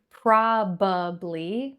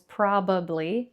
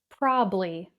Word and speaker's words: probably: So, you may have learned probably, or at least that's what it looks like. It looks like it has three syllables, probably, but many native speakers pronounce this word with two syllables, probably.